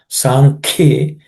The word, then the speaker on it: सांख्ये: Sankhye, again ka here is aspirated Sankhye.